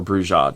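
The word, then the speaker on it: Brujah: Bruja or Bruja, depending upon how you want to pronounce it.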